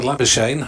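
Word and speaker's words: Labuschagne: yeah and as for labor Shane rhymes with champagne he just gave up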